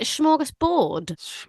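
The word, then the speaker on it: smörgåsbord: Did I pronounce it right? Is it smorgasbord? What did I say? Borg, like beyond Borg. Did I? I think it is smorgasbord, isn't it?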